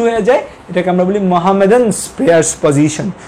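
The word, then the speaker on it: Mohammedan: মানে ওরা এমনভাবে লিখছে যে মোহামেডান প্রেয়ার্স পজিশন, উচ্চারণটা এভাবে হবে যে মোহাম্মদান প্রেয়ার্স পজিশন, মানে মোহাম্মদের নামাজ পড়ার যে পজিশনটা সেই পজিশনে পেশেন্ট চলে যায়।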